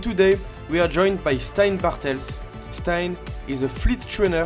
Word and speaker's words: Steyn Bartels: And today in this episode, we are joined by Steyn Bartels. I hope I pronounced in a good way your name.